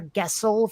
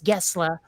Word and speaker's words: Gessle: and by the way, his name is spelled Gessle. I thought it was Per Gessle for the longest time, but no, it's Gessle.